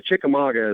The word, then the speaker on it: Chickamauga: Chickamauga is actually how you say it.